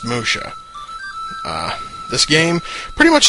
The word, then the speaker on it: Musya: it is Emoto Saga Musha yes that is pronounced Musha uh this game pretty much just imagine like